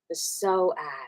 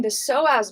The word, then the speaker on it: psoas: PS the so as you know it's one of those weird spellings with a silent P because we don't want to talk about the P word right on YouTube. It's like psychology.